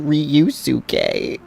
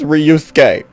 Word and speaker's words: Ryusuke: Oh, it's so cringy hearing her say it like that because it just sounds so American. Mr. Ryusuke. Girl, it's Ryusuke. Just say Ryusuke. It's not that hard.